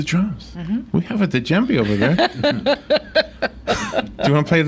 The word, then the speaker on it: djembe: We have a djembe over there. Do you want to play the djembe? No. Am I saying it right? Djembe? Sounds right. When a D and a J go together, I'm confused.